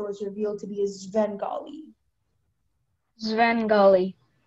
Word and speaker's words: Svengali: It can be pronounced Svengali, Svengali, Svengali, or Svengali.